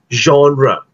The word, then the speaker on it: genre: In British English, you pronounce this as genre. Genre. Okay? Genre. But if you are going to use American English, it's pronounced as genre.